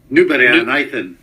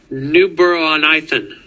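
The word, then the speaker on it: Newburgh-on-Ythan: How do you say it there? Newborough on Ithen. Ithen? Newborough on Ithen. Newborough on Ithen.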